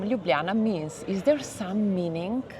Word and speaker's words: Ljubljana: for our viewers is if you help us pronounce the capital city of Slovenia because it is quite hard. So it's Ljubljana.